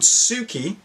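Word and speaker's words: Souki: shoot up so quickly they're called Suki and that is spelled s o u K I I'm not sure where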